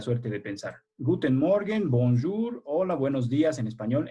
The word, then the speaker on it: bonjour: Se pronuncia bonjour como si tuvieras mucho moco en la garganta o tos.